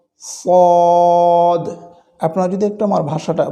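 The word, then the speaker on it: ص: স্থানগুলোকে নিয়ে এরপরে আসুন এটি একটি চাপা মোটা আওয়াজে উচ্চারিত হয়ে থাকে স ফদ জিহ্বার আগা সামনের নিচে দুই দাঁতের পেট ও আগার সঙ্গে লাগিয়ে সদ সদ আপনারা যদি একটু আমার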